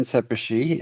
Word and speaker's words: Szepesi: go ahead so my name is seishi and yes I do spell it phonetically there so that you remember um